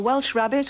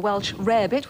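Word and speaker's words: Welsh rarebit: cheese on toast well Welsh rabbit or Welsh rare bit whichever way you like to pronounce it is in fact she's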